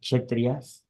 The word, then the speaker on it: Kshatriya: Uh, there was one kingdom named Vaidisha, where all the Brahmins, Prabhuji, how to pronounce this one, please? This is Kshatriyas.